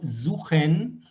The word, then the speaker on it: suche: Luisa, intenta del verbo suchen pronunciar el CH aquí bien atrás en la garganta como ustedes pronuncian la J.